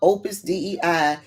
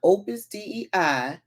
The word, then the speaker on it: Opus Dei: Download chat GPT and tell chat GPT to briefly describe Opus DEI, then tell it to describe the Seven Mountains Mandate, and then tell it to describe Manifest Destiny. Oh, Day, it's pronounced Day.